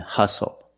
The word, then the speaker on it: hustle: We also see the silent T when you have the spelling pattern S-T-L-E. Like these words, whistle, castle, and hustle.